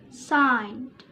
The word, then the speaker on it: signed: We pronounce it signed.